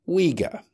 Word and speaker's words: Uyghur: The spelling UI occurs once only, as far as I'm aware, in Uyghur.